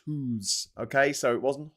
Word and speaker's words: Hus: H us Jan Hos that was his name and he he he was he was a Czech priest and um his pronounce his name was pronounced who's okay so it wasn't